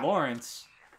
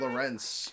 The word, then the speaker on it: Lorenz: Lawrence. Eat gum okum. Lorenz, actually, is how it's pronounced.